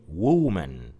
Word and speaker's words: woman: We don't say woman. We don't say it like that. We say it shortly.